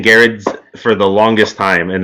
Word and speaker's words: Gerads: favorite writers, and then his longtime collaborator, Mitch Gerads. Tom King has written a lot of other great books. Gerads. I want to say Gerads. It's Gerads. Mitch Gerads. I have been saying Gerads for the longest time, and then I just